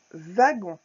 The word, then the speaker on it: wagon: Un wagon. Voilà, le V, le W se prononce comme un V.